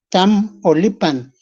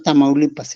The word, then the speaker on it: Tamaulipas: hay pueblos, por eso se llamó primero Tamaulipan, y en español dijeron o pudieron pronunciar o lo pronunciaron diciendo Tamaulipas.